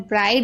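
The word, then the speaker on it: bright: अगर किसी शब्द के अंत में GH या GHT हो तो GH साइलेंट रहता है, यानी आखिरी में अगर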